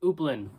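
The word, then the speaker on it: Houplines: One specific account was the trenches at Upland. The H and the S is silent.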